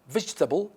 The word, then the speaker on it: vegetable: like the interested fattening fattening fattening it's fattening vegetable not vegetable no not veggie no it's vegetable